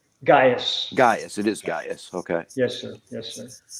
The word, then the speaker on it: Gaius: It is Gaius.